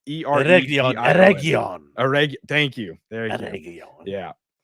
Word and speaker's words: Eregion: It's Eregion.